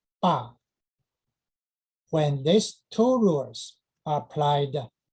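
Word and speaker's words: 父: The character "fù" "f u" in older Chinese should pronounce that as "bā".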